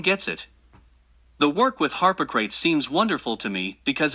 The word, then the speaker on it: Harpocrates: The name of Harpocrates is Harpocrates, but the mantram is Harpocratis, and then one concentrates.